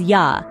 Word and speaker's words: ja: For instance, the German J sounds like the English Y, as in yes. So, ja in German is not pronounced as ja, but rather as ja.